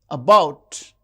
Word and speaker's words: about: paper and about about the second syllable is stressed.